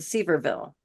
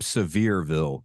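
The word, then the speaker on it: Sevierville: short-term rental property and seille did I pronounce that right it's um Seville kind of like severe weather but yeah you're you're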